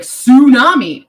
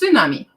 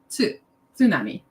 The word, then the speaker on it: tsunami: see the word tsunami most people are like tsunami that is incorrect pronunciation it's tsunami tsunami and this one is just kind of like